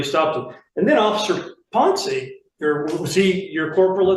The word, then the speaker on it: Pon: And officer Pon, is that how you pronounce his name? Pony. Pon.